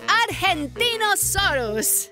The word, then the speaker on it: Argentinosaurus: Deo I'm Angie the Argentinosaurus wao that is a big name for a big Dino I have to break it up to say it right R gen te o s us that's me so I'm